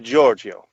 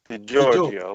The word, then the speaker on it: Giorgio: so uh i guess if you just try a little less and just say the giorgio georgio like georgia yeah if you took